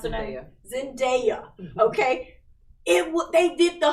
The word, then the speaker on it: Zendaya: euphoria with zendaya or zendaya how do you pronounce it yeah zendaya okay what they did the whole show in